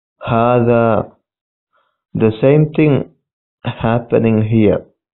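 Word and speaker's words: هذا: Hada is written without alif, but it is pronounced hada.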